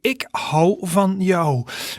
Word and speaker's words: ik hou van jou: In the middle there you see the way you pronounce it. So to say to someone I love you in Dutch you say ik hou van jou.